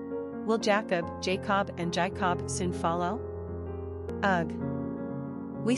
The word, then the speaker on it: Jaycob: Like you want to pronounce the word separately, J plus cob, as in corn on the cob. Will Jacob, Jacob, and Jaycob soon follow?